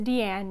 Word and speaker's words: Deanne: designs and I thought I was saying her name wrong and somebody said nope it's a Deanne you're right so I'm so glad because I